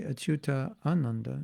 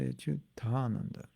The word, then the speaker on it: Achyutananda: But when you combine two words, one ending with A and one beginning with A, you don't say Achyuta Ananda, you say Achyutananda.